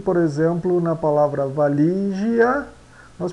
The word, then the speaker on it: valigia: pronunciamos gentileza gentileza e por exemplo na palavra valigia nós pronunciamos validia validia tá então Essas foram a essa foi